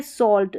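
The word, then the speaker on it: salt: ठीक है, अब ये है सॉल्ट, सेम टू सेम ऐसा ही है सॉल्ट। यहाँ पर चौक और सॉल्ट में एल साइलेंट है, ए का उच्चारण ऑ करके हो रहा है।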